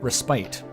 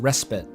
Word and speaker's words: respite: ] up forever cuz I thought it was um Spite and then I I said it out loud once in a presentation and my English teacher at school corrected me he said that's pronounced respit cuz I think it